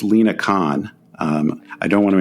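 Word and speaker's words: Lina Khan: but uh yeah and by the way it's Lena Khan um I don't want to endure the Wrath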